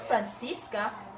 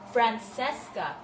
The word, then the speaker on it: Francesca: Not Francisca, Francesca.